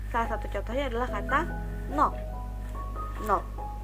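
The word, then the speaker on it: 넋: satu contohnya adalah kata nok, nok. Nah, di saat dia berhenti hanya dalam huruf konsonan rangkap ini, maka dibacanya hanya huruf gioknya saja.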